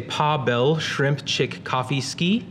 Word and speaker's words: Pawel Szymczykowski: If you're not familiar with the Polish pronunciation of names, I've provided an emoji pronunciation guide. So if it's if you can say Pawel Szymczykowski, that is a pretty good approximation.